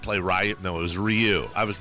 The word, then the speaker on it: Ryu: fame for me is teaching me the proper way to pronounce Ryu after playing Street Fighter 2 all those years, and I always thought it was Ryu, like Ken and Ryu.